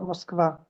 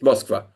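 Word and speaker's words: Москва: I'm not I'm sure there's a Russian speaker here who can tell me that Moscow is it's for sure. Mosva. It's Mosva, right?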